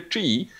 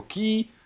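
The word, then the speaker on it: Qi: Kostka od firmy Chi. Dużo osób pewnie wymawia to jako Ki, a ostatnio nawet te literki I zniknęły z nazwy i już zostało samo QY Toys.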